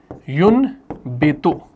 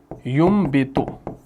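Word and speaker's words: يُنْبِتُ: जैसे है जैसे है यून बेतो। ठीक? तो यह पढ़ा जाएगा युबित यह मीम से पढ़ा जाएगा।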